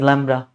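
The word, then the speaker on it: lambda: Pronounced as लैम्ब्डा।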